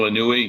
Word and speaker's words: Inouye: itself well Danielle I knew we did I pronounce that right Daniel anui yes Daniel Inouye okay he said there exists a shadow government